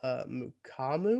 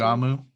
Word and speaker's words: Mukuamu: You have the kid from South Carolina, Israel Mukamu. Mu- I'm gonna guess yeah, how you say his name. Mukuamu. Mukuamu. Yep, there's another U in there.